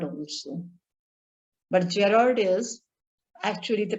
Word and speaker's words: Gerard: One is Gerard. Gerard is the English pronunciation, but in our Indian background, some people pronounce it as Garrard also. But Gerard is actually the pronunciation.